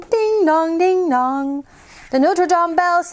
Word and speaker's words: Notre Dame: Ah, look, this is Notre Dame. You also hear it pronounced in English as Notre Dame, but Notre Dame is the cathedral of Paris.